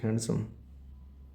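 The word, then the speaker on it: handsome: either book is years neither boy इज हैंडसम हैंड सम dear silent होता है इसमें हैंडसम बोलते डिसाइलेंट हैंडसम distribute कर रहा है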